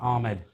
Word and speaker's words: Ahmed: Ahmed.